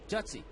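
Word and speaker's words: Jutze: How do you pronounce that guy's last name? Skip Jutz? Jutzy? Jutzy.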